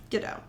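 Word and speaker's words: Godot: aka Goto Gauo Gdau GDo Gdo. G O D O T. The T is silent.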